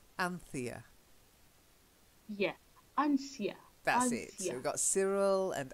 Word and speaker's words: Anthea: they drink he was drunk okay and then Anthea Anthea yeah I'm famished Cyril and Anthea and lamb